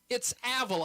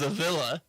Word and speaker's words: Avila: And it's Avila. I'm an NAI guy. You think I'm going to pronounce? Wow. He's getting shut off. All right. Oh, he's hesitating. It's not the home improvement show that Avila. No, I went in there thinking it was a villa, and it's Avila.